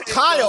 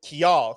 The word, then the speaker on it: Khial: It was Kyle the entire time.